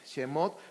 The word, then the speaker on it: Shemot: Se los puse ahí en hebreo, cómo se pronuncia el Bereshit, que es Génesis, Shemot.